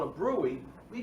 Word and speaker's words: bruit: It's called a bruit.